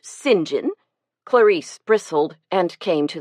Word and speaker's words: St. John: Since we are speaking of names, why do you pronounce yours St. John? Don't you know it's properly pronounced singing?